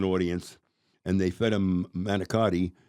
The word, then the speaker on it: manicotti: and they fed them manicotti. And they call it manigot. That's how you pronounce it, manigot.